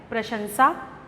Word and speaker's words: प्रशंसा: मिलता है जैसे कि प्रशंसा को लोग प्रशंसा बोलते हैं और प्रकाश को प्रकाश बोलते हैं जबकि यह गलत उच्चारण है इस का सही उच्चारण है प्रशंसा और प्रकाश है कुछ लोग कुछ